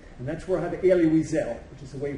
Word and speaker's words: Elie Wiesel: And that's where I have Elie Wiesel, which is the way you pronounce his name, okay?